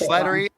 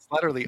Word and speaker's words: Slattery: Is it Slattery or Slatterly? Oh, it is Slattery. Slatterly all the time, but Slattery is correct.